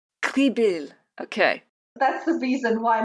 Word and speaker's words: Krebiehl: Now let us know how you pronounce your last name. It's Krebiehl. Krebiehl.